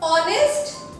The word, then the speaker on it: honest: Yes, when we write, it starts with the letter H. But when we speak, when we pronounce the word, it is starting with the sound of O. Honest, right? In such words, the alphabet H is used silently.